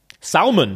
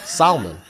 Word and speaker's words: salmon: you wouldn't mind ignoring pronouncing the L in salmon salmon yeah oh God I'm not ignoring that I'm not ignoring that my ears were put like a makeover salmon I'll take the salmon